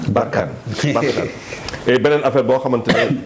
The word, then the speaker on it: Barkhane: sur le même tu prononces Barkhane ou Barkane. Barkhane.